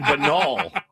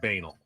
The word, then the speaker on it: banal: I've been saying Benol. I've been saying I What? You're just afraid of saying banal.